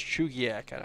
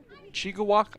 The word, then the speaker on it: Chugiak: what i was saying now that i know it's chugiak i'll never say it wrong again chica walk i think is how i was saying it probably that's not right though obviously matheson looks